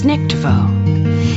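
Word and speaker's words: Weissnichtwo: w-e-i-s-s n-i-c-h-t-w-o yup as a german word is pronounced this nictevo it means an imaginary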